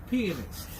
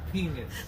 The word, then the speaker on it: pianist: Pianist, okay? All right, repeat after me, Quirky. Pianist, okay? 3 syllables, pianist. All right, not penis, all right?